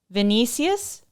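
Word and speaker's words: Vinícius: And then as soon as I said that, Vinicius, did I say it right?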